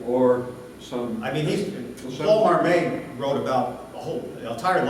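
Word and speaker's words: Marmet: You mentioned Paul Marmot. Paul Marmot, yes. He's Canadian, and Yeah. he pronounced, because he's gone now, his Marmay, Now, okay.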